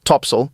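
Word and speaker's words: topsail: included the four course four Top Sail pronounced topsil and four top Gallant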